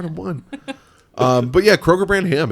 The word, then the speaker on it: Kroger: Uh Kroger brand is second uh best via How do you say that again? Kroger brand. Oh, not Kroger's brand. No, it's not Kroger's.